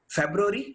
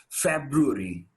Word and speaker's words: February: It is often quoted February, yeah? See, the right pronunciation of this word goes February. It goes February.